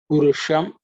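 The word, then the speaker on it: पुरुषम्: Purusham again the cerebral sha.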